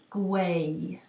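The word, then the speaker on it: gwau: any word in English the way that they're pronounced in Welsh so the Welsh word for knitting or to knit is gu um and I I checked that with Avon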